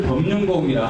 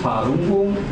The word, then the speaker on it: 파룬궁: 한국에서 그 한자 자체를 그대로 한국식으로 읽은 것을 법륜공이라 합니다. 중국에서는 파룬궁 이렇게 이야기합니다. 그 법륜공은 한자 그대를 그대로 한국에서 읽은 것이고 파룬궁 이것은 중국 사람들이 자기 나라 글자를 읽을 때 발음하는 거예요.